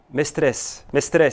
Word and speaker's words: Mestres: particules du CNRS, Mestre, ça se prononce comme ça? Le nom de famille? Mestres, c'est bien dit. Alors, Mestres.